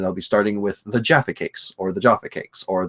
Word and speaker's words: Jaffa Cakes: see T2 train spotting they are pronounced Jaffa Cakes not Jara cakes okay Oh you mean